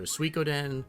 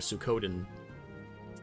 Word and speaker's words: Suikoden: the pronunciation because i've heard it pronounced two ways it's either suikoden or a sukoden um and i don't